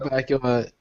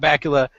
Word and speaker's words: Bakula: Scott Bakula is. I always liked him because his name rhymes with Dracula, but also we watched a lot of Quantum Leap when I was young.